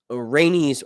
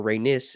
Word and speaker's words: Rhaenys: So technically, even though Rhaenys, or Rhaenys, as the British say it on the show, married Corlys, they're related still.